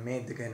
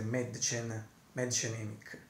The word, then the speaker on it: Mädchen Amick: Ho appena letto anche la pronuncia precisa in tedesco e a quanto pare prima dicevo Madchen, Medgen, ma adesso l'ho letta bene, diciamo dovrebbe essere Madchen Emick.